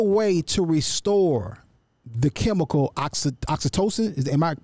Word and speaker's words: oxytocin: Is there a way to restore the chemical oxytocin? Am I pronouncing it properly?